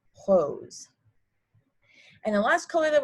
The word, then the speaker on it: rose: away that's okay but again it's pronounced hose and the last color